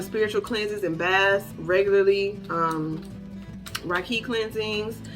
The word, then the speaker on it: Reiki: cleanses and baths regularly, Reiki cleansings. I say Reiki because I was looking it up, and that's how they originally pronounced it, and I think it's cuter than Reiki.